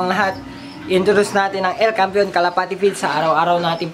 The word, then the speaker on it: El Campeon: And then El Campeon, ay aliwala man, El Campeon Pigeon Feeds, yun ang tamang pronunciation mga kalapati.